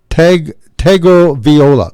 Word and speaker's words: Tagovailoa: And how do you pronounce his last name? Taglia. That's it. Tagovailoa. That's it. I think you got it right. Tagovailoa. Tagovailoa.